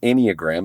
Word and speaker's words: Enneagram: called called the inag now if you've never heard of the inogram it's spelled e n n e a g r